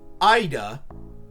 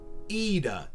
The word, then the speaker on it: Ida: from my friends her last name is not pronounced Ida it is pronounced EA in my defense I had a 50/50 chance